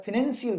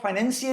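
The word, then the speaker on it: financial: तो फिनेंशियल कुछ नहीं होता, आप सर्च कर लेना गूगल पे, आप क्या करना, प्रोनाउंसिएशन सर्च करना, ऑक्सफोर्ड कॉलिन डिक्शनरी जिसमें भी हो, किसी में भी देख लेना, आपको फाइनेंशियल ही मिलेगा, फिनेंशियल कहीं नहीं मिलेगा।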